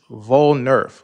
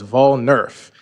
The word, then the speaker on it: Volnerf: And I put the pronunciation up there, but it's Volnerf, like voting and Nerf ball. So, it's Volnerf.